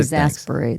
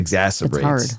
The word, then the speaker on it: exacerbates: The absence of standardized credit protocols and enforcement mechanisms exag exaggerates uh exag pronounce that word for you. I did get it. Exasperates exacerbates. Thanks.